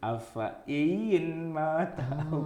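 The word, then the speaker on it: أفإين: itu bacanya kalau yang nggak ngerti afa in ma ta'au kutila. Afa in ma ta'au kutila. Afa in mitta ya.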